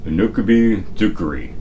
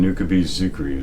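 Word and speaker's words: Unokubi-zukuri: Now, I asked the little Japanese lady app in my phone how to pronounce that, and she said Unakubi Zukuri.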